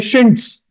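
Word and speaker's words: chintz: क्योंकि pronunciation problem है तो इंसानों ने इसका नाम शिंट्स कर दिया।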